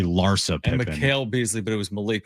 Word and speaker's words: Larsa Pippen: I said it's I said Lissa Pippen and it's actually Larsa Pippen.